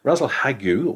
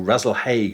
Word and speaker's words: Rasalhague: star, which is well, it's pronounced in different ways, isn't it? Rasalhagu or Rasalhague, I call it, which is Alpha Ophiuchi, and that's the head of Ophiuchus the serpent bearer. Yes, it is a straight. I've always pronounced it Rasselhague, but I suppose there are other ways of doing it.